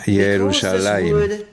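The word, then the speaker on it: ירושלים: Porque deberías pronunciar esta palabra como si hubiera una yud adicional entre lamed y mem, y luego puedes los kamets o muchas veces el pataj. Esa también es una vocal ficticia, va junto con la pronunciación Yerushalayim.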